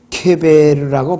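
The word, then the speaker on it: קבר: 히브리어로 무덤이라는 말, 그레이브, 이 무덤이라는 말은 케베르라고 발음을 합니다.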